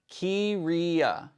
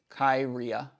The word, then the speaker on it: Kiria: Pronounce Kiria. Kiria. Kiria. Huh. Yeah, I definitely would have pronounced that wrong. I would go Kyria.